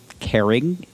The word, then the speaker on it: Carignan: Carignan.